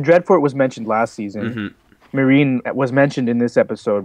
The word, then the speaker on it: Meereen: But we got 2 new locations: the Dreadfort and Meereen. Right, that's how it's pronounced.